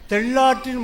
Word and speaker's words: தெள்ளாறு: அண்ணாவும் எம்ஜிஆர் திகழ்ந்ததைப் போலே தெள்ளாற்றின் முகவரியாய் திகழ்ந்து கொண்டிருப்பவர் அண்ணன் பி முத்து அவர்கள் இதை தெள்ளாறு என்றுதான் உச்சரிக்க வேண்டும் தெள்ளாறு ஐயா ஐயா அப்புறம்